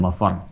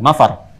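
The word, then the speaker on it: المفر: Ma ada tasdidnya it ainal mafar ada tasdidnya Makanya bacanya juga bukan mafar Awas ya Bukan mafar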